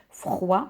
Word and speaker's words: froid: prononce pas le S froid on ne prononce pas le D duri on ne prononce